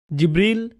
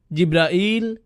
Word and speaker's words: জিবরাইল: জিবরীল জিব্রাইল জিব্রাইল জিব্রাইল জিবরীল এই পাঁচ ভাবে তার নাম উচ্চারণ করা হয় আর এটা বিভিন্ন কিরাতের মাধ্যমে বর্ণনা করা হয়েছে ইল ইল মানে আল্লাহ